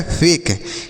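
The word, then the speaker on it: fake: पढ़ेंगे, लिखा गया है फेक। ई का उच्चारण नहीं करते हैं। अगर किसी शब्द के लास्ट में ई रहता है बच्चों तो उसका उच्चारण नहीं होता है, तो लिखा गया फेक।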